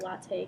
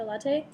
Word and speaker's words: latae: So you can pronounce the latae part how you want, but that's what makes sense to me is that latae because it's L-A-T-A-E.